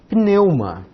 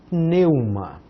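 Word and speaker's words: πνεῦμα: Começamos com um pi. Depois, olha que disfarçar, as duas letras se disfarçam, né? O N que se disfarça de V. Depois um epsilon, um Y, um M, um Mi e o alfa. Nós temos aqui o acento, sempre vai na segunda, pneuma, pneuma.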